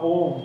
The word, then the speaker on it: Om: as a Unity that some people think of om as you know made of it's actually om like a you but uh he says